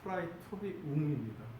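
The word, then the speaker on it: praetorium: 이 빌라도의 관정, 브라이도리온이라고 이제 다른 복음서에 나와 있고, 발음상으로는 프라이토리온이고, 라틴어식으로 하면 프라이토리움입니다.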